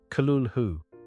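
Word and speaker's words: Cthulhu: now known as the cthulu Mythos a term he did not coin himself this word is intentionally non-human and there is no correct pronunciation Lovecraft suggested the closest pronunciation is Kulu unlike most horrific creatures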